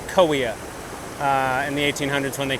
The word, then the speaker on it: Kaweah: Originally it was Gowea. The Native Americans named it that, and the settlers mispronounced the G, so we have Kaweah in the 1800s when they came.